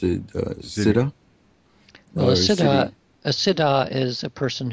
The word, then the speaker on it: Siddhi: he's some people pronounce it Siddha, and you pronounced it Siddha. Well, Siddhi.